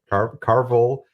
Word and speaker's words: Carvel: And is there relation between Carvel, I pronounced it right, Carvel, You got it.